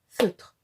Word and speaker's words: feutre: l'école maternelle, c'est-à-dire que par exemple pour le mot feutre, nous ne comptons qu'une syllabe, feutre. C'est le cas pour tous les mots qui finissent par la lettre muette E.